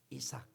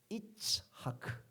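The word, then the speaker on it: יצחק: 이삭. 예. 우리 발음 이삭 좋습니다. 그러나 원래 히브리 발음은 우리 한번 따라해 볼까요? 이츠 하크.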